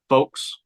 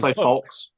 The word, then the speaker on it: folks: years say that word folks so you got no l in there folk you're just saying folks I say folks folks